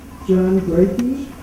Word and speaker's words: John Brakey: John Brakey. Yeah. That's correct pronunciation.